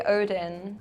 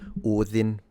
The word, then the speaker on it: Odin: in Old Norse was Odin. So, in this case, the closest would be the Norwegian, in my opinion. Because she did pronounce the D as a the, so the interdental fricative, like in mother, and I believe that's